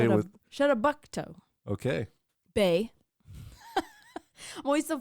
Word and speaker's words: Chebogue: Say it with Chebogue. okay. Bay. I'm always so focused on the pronunciation of the first part that I'm like, there's a long pause, and then I'm like, island.